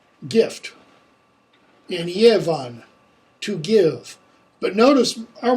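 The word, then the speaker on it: giefan: It's going to be the hard g, as in god, which is good, or the ya, as in yevu, gift, and yevan, to give.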